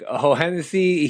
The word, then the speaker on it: Hohensee: And then Mike Hohensee, it's double H is silent, second H is silent.